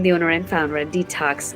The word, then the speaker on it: dtocs: owner and founder at detox and this is spelled non-traditionally just like the word iPhone making it cool d t o CS because it sounds cool but it means it